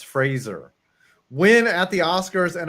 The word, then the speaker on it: Fraser: Frazier Brendan Fraser Fraser don't you have to pronounce his name it's Frasier I think it is Fraser Fraser not Frasier it's Fraser when at the Oscars an adult Kay Hui